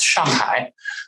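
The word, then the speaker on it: 上海: Both sides of my family are originally from the Shanghai area, or if pronounced in Mandarin, it's Shanghai, which means on the sea.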